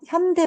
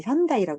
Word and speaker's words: 현대: 나한테 막 롯 그 롯데 상품을 걔네 현대 발음 현다이라고 발음하거든. 현다이 롯데다 이렇게 발음해.